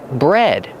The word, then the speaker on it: bred: In the past, bred. Pronunciation. Use a short e like head and red. Bread. Just like the bread you eat, but it's spelled differently.